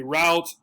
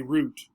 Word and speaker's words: route: down to personal preference for the noun i like to say route for the verb i like to say root the dictionary that i